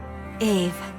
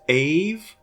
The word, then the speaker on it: Ave: The text says Abe, but they seem to be saying it as Ave.